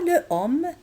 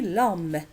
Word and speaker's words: l'homme: Alors, on ne dit pas le homme, on dit l'homme.